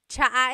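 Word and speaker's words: tsaa: Polyglot said it's like the word cha. Cha in Tagalog is tea. like the tea that you drink. And it's spelled ts aa aa. Cha. Cha. That's such a Tagalog spelling. I love it. There's the ts sound and then the double vowel uh pronunciation.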